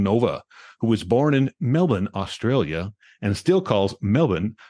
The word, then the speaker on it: Melbourne: who was born in melbin Australia and still calls Melvin her home I'm laughing because we discussed how Melbourne is pronounced because I was going to say Melbourne anyway as we chat